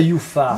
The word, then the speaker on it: UFA: Il y a La pas de UFA ou U. la UFA? Non, on dit ou en allemand, les U se prononcent et ça s'écrit UFA, donc ça se dit UFA, la non?